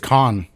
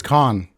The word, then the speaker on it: Cannes: So they edited in I think it's Con. Is it Con? I don't think you pronounce the S.